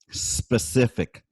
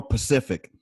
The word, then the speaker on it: specific: oh and for you listeners out there it's pronounced specific all right it's not a ocean it's not oh can you be more pacific no it's can you be more specific huh